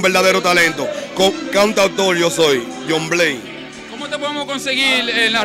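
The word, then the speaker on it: Jhon Blaze: Y se pronuncia John Blaze, es un nombre en inglés como Juan Navaja.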